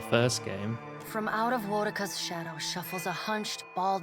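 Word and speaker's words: Woedica: The goddess Wodika strides forward. Wait, now it's Wodika? Everyone in the first game said Woodica. The pronunciations have all changed.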